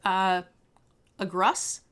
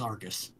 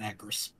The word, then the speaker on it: Agrus: since original Ravnica, and until right now I thought his name was Argus, not Agrus. Agrus? Agrus? I have no idea how to pronounce it, but I thought it was RG, not GR.